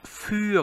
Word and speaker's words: für: 자, 참고로 여기서 요거 für 같은 경우는 자, umlaut 발음 어떻게 하죠? 우 이렇게 입을 바짝 내밀게 되죠. 자, 참고로 입을 많이 써야 됩니다. 소극적으로 그냥 하고 말면 안 돼요. 입을 바짝 내면서 하신 상태에서 입을 좌우로 벌리지 말고 그냥 입 모양을 그대로